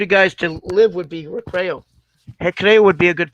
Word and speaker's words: Recreio: Recreo. It's spelled Recreio. Recreo.